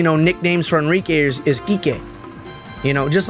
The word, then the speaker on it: Kike: I mean, in Kike, but it's spelled like kike, K-I-K-E, but it's pronounced Kike because it has a Spanish enunciation.